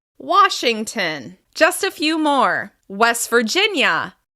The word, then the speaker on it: West Virginia: West Virginia. West Virginia. Remember, we're going to stress the second word, and in this case, it's the second syllable of this word.